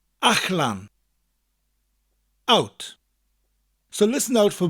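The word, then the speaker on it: allan: Wales, and that is Ach-lan. Ach-lan. It's spelled A-L-L-A-N. Again, the double L sound sounds a little bit different in the middle of a word. It's a CH sound with a slight L. Ach-lan.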